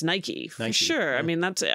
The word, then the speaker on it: Nike: don't seem to be sure that's how it's pronounced I mean in here it's Nike sure I mean that's it all the ads it's Nike right I've never heard anyone really anyway but